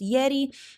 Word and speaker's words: Yeti: website down in the show notes but that's pronounced Yeti it's ye TI I think the website is www.